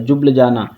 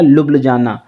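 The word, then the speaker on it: Ljubljana: और अगर J silent करके पढ़ोगे तो आपका हो जाएगा लुब्ल जाना, ठीक है, लुब्ल जाना, ठीक है। और जो स्लोवेनियन होते हैं वो J साइलेंट करके पढ़ते हैं, ठीक है, J साइलेंट करके पढ़ते हैं, ओके।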